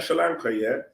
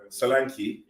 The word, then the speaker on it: Solanke: go and get a Solanke, I'm saying his name wrong, Sri Lanka. But if you're gonna go and get a Sri Lanka, Solanke, yeah.